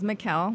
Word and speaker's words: Mykal: Well, the way to pronounce my name is Mykal.